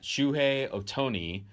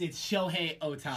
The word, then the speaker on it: Shohei Ohtani: Do you care that Shohei Ohtani is... Did I say it wrong? No, you got it wrong. Yeah, it's Shohei Ohtani.